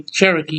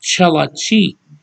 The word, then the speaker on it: Cherokee: I can speak Shoshone some, I can speak Cherokee some, and that's not how you say Cherokee either. They didn't know how to pronounce it. It's called Chelachi.